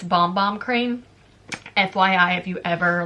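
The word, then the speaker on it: Bom Bom: And it's actually not Bum Bum cream, it's Bomb Bomb cream.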